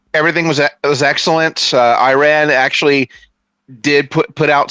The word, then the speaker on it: Iran: um well I mean I know technically it's pronounced Iran that I believe I know some folks say Iran you know because of how spelled how it looks but but yeah technically